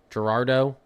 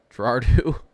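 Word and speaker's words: Girardeau: Am I saying that name wrong before I continue? Gerardo. Gerardo. Yeah, Pam.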